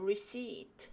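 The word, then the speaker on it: receipt: 보시면 lc 2 트에 피가 있지만 묵음 입니다 소리가 안나요 영수증 인데요 그냥 울시 즉 라고 읽으시면 되겠습니다 읽어 나와는 영수증이 필요합니다 영수증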